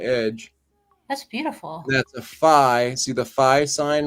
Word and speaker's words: phi: I'm sorry, but I think that is the letter F in Greek for phi, and it's pronounced phi.